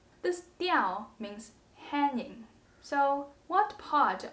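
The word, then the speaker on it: 屌: word is pronounced diau that's why the whole character is pronounced diao this diao means hanging so what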